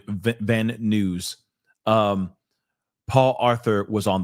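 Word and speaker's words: Van Nuys: He pronounces it news. Okay. Van Van News.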